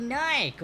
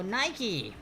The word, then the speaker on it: Nike: company that would be nike or nike nike or nike depending where you're from i pronounce it but the spelling is the same number two name the